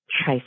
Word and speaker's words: Trice: I always tell people my first name is like rice with a T.